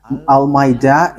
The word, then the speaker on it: Al-Ma'idah: So, the way you write it, Al-Ma'idah, is as it is pronounced, Al-Ma'idah.